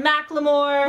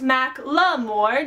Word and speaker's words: Macklemore: Chitty Bang or Macklemore, which is pronounced Macklemore, not Macklemore. I pronounced it Macklemore in a video and someone was like, "You said it wrong!" And I'm like, "No, I didn't! He tweeted the correct pronunciation and this is it!"